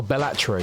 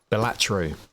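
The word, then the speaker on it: Balatro: Oh, Bellatro. I thought it was Ballataro. Bellatro.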